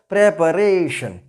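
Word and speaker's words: preparation: It will be pronounced as प्रेपरेशन. प्रेपरेशन. The word stress will come before are. प्रेपरेशन.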